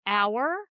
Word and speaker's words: hour: So we have words like a hour and we have words like honor and if you look at how they're spelled there's an h but if we look at how they're pronounced there's no h and that's because historically